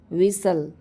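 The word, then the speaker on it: whistle: ठीक है ना 68 च लेटर इज और are silent in the word विसल विसल में कौन से लेटर साइलेंट होते हैं ठीक है तो एच और टी होता है साइलेंट क्वेश्चन नंबर 69 गाइस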